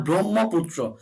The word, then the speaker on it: ব্রহ্মপুত্র: ব্রহ্মপুত্র অর্থাৎ হ ম দুটিকে কিন্তু আমি কানেক্ট করে বলছি।